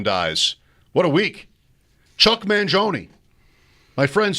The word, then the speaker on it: Mangione: Chuck Mangione.